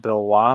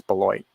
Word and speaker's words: Beloit: i know anything about bull white university and you would i keep thinking it's supposed to be spelled bill wah but i think it's beloit i think that's how they say it maybe you would know